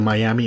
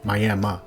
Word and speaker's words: Miami: The city is spelled like the Miami in Florida, but I've been informed it's pronounced Miami.